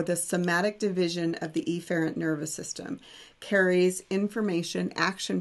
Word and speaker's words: efferent: So afferent in, efferent out. And it's actually pronounced afferent and efferent, but I'm twanging it up so you can hear the difference.